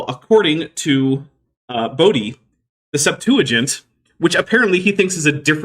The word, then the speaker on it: Septuagint: In case anyone doesn't know, the way you pronounce LXX in this context is just Septuagint.